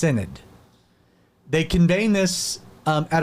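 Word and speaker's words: synod: Now to settle the matter, the Dutch government conveyed what was known as a national cinnid uh s y n o d pronounced cinnid.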